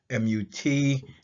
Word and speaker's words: Mut: Together, these signify and translate to MUT, which is pronounced Mut, and it represents motherhood.